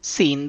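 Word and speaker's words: س: pronunciation of this letter seen the point of pronunciation of this letter seen is by touching tip of the tongue with the edges of lower front two teeth and lightly with upper front teeth like za point of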